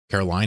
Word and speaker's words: Caroline: Hope you had fun, Caroline, excuse me. That's not pronounced the same as Carolyn.